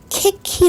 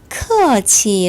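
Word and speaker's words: 客气: 1억 영은 보시면서 혹시 캐 키 라고 발음 아시는 분은 없으시겠죠 캐 키 라고 읽으시면 절대 안됩니다 켁 기간이라 크 아치의 라고 발음을 하셔야 합니다 이큐 발음은 요 ca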